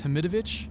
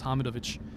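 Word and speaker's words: Hamidović: the west do it's hamidovic but if you want to pronounce it correctly like we do in the balkans it's hamid of which doesn't really matter just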